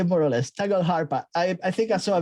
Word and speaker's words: Tagelharpa: We say Tagelharpa. Tagelharpa. But I don't know if that's the correct Nordic pronunciation. I'm in Germany, Right. so we just say Tagelharpa.